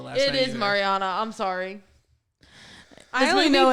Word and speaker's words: Mariana: fandom of this movie thinks that it's like Marina's Trench, but it's in fact a kiddie pool. Like that's what I'm trying to say. isn't it pronounced Mariana or is it Marina? It's a marina. It's Mariana.